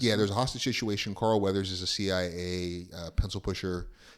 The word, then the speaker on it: Carl Weathers: And this movie has, obviously, we know it's got our main man Arnold, but you also got Carl Weathers. Is that how you pronounce it? Carl Weathers. Weathers, yeah.